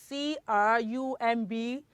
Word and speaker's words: crumb: Okay, 2, C-R-U-M-B is crumb. Because what? Because the letter B is silent.